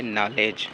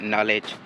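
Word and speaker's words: knowledge: अब यहां पर देखें के यहां पर खामोश है। साइलेंट है। और डी भी इसमें क्या है? खामोश है।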